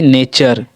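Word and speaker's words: nature: अगला हमारा, जब किसी वर्ड के लास्ट में यू आर ई आए तो यू आर ई को अर पढ़ते हैं।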